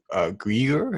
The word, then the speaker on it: Greer: I also recently watched a podcast interview by Enlightenment with Stephen Greer. Is that how you pronounce his last name?